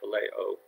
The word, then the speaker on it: phileo: for the city of Philadelphia gets its name phileo is how it's pronounced and that kind of love is refers